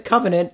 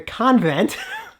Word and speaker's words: The Convent: click with me uh it's not the Covenant it's the convent which is now available